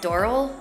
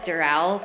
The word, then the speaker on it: Doral: And those are Pinecrest and Doral. I think they call it Doral, but it's spelled like Doral.